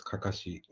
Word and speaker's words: Kakashi: Or properly pronounced in Japanese, Kakashi.